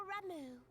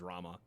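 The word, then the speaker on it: Ramuh: They look like Gisselcreens, floating ones, that worship the primal Ramu. Oh, it's Ramu? I've always pronounced that as Rama.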